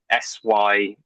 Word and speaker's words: Syder: search my name, Syder, Syder. It's a weird spelling, like cider but not spelled like cider, and then.